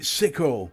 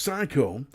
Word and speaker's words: Psycho: I've been calling it Sicko for a little while, and although I was wrong in calling it Sicko, because it's pronounced Psycho, I can tell you with personal expertise that